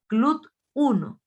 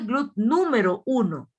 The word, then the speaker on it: GLUT1: Se dice GLUT1. No se dice GLUT número 1. No, GLUT1.